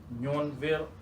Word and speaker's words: Nyuonville: Oh, do you how do you pronounce it? Nyuonville, Nyuonville.